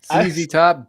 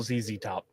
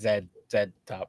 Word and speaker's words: ZZ Top: I mean, you know, it it's not Zed top. That's just Ah, no, no. They're they're from Texas. You pronounce it the way a Texan would pronounce it.